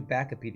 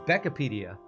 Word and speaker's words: Beckopedia: Oh, I called you Backopedia. It's Beckopedia. Sorry, I mispronounced your name earlier.